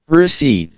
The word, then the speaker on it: receipt: cupboard, coup, core, slash, receipt, এটাতে অনেকেই ভুল করে, এটা পরীক্ষায় কত হাজার বার যে রিপিট করে তার কোনো হিসাব নেই, ঠিক আছে?